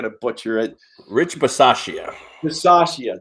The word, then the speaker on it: Bisaccia: Bisaccia, there you go. I was going to say Bachachi, but that's good too.